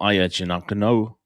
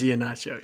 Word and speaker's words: Iheanacho: And overall in the country, you've got 2 5-stars, Zion Ely, Emmanuel Ayachinakano, Nacho. Mr. Nacho. Iheanacho. It is Iheanacho, yeah.